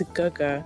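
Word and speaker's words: 哥哥: but like there's so for Big Brother it's Guga, which is spelled Gege, but like when people don't know how to read it, they see it and they're like gay, and I'm like, shut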